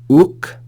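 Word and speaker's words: οὐκ: Uk, notice the diphthong, omicron, upsilon is pronounced u.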